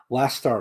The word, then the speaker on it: Leicester: It's pronounced Leicester, right? Okay, thank you. No chance, right? I thought it might be Leicester, but because it's Leicester, but no, it's Leicester, right?